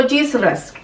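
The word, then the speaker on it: hijra: Los Sidras o Yisras, como ustedes prefieran decirlo, porque he escuchado la pronunciación de estas dos maneras.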